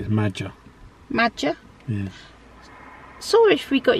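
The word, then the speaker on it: Maja: Jax it's m a j a so it's magic yes so wish we got your name wrong there I think it's magic okay obviously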